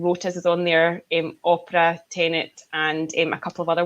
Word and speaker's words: Tenet: know where the word Tenet came from, because for the first 6 months of seeing the trailers, I kept mispronouncing it and calling it Tenant, which was obviously it's